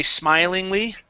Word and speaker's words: smilingly: let's see smile okay and you say smilingly Okay smile smilingly the accent is still on smile okay that would be an